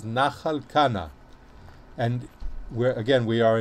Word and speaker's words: Nachal Kana: translation says wadi kana which is the arabic pronunciation or the arabic translation of in the the hebrew bible the original it says nachalkana and where again we are in the book